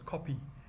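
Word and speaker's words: Kopje: The name Harare derives from the Shona chieftain Nirwana, who with his people occupied the area known as the Kope, pronounced as Kopi, near where the commercial area developed.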